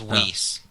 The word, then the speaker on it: Whis: thought was wh it's spelled whis but it's pronounced whis but so he has a cane so I